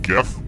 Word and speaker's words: GIF: I stand for in gif and yes I pronounce it with the G sound not the J and the correct answer